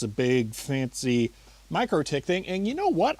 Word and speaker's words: MikroTik: I still insist MikroTik should rhyme with necrotic.